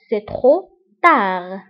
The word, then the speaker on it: trop tard: C'est trop tard. فبالنسبة لترو تكتب بب في آخر الكلمة ولكن لا ننطقها، وتار تكتب بالد في آخر الكلمة ولكن لا ننطقها. C'est trop tard.